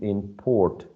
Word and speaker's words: import: is to import to import toys so i think that um because it's used as a verb to import toys the second syllable should be the one stress right what do you